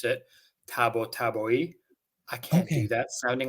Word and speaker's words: Tabatabai: the way uh no no no I say tabatabai so I'm half Iranian so the surname the last name is from Iran um apparently that's not how you say it apparently you're supposed to pronounce it Tabo taboi I can't do that sounding like this I